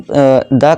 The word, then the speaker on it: the: यानी कि कॉन्सोनेंट हो, तो हम जब भी व्यंजन है और कॉन्सोनेंट की साउंड है, तो हम क्या करेंगे, वहाँ द का साउंड क्या करेंगे, यानी कि प्रोनाउंस किस तरह करेंगे, दा ही करेंगे। ठीक है दोस्तों, दा करेंगे।